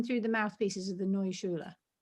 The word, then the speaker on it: Neue Schule: It's Neue Schule. Neue Schule. Right, so yeah, that completely wrong. I always say New Schule, but Neue Schule, mouthpieces.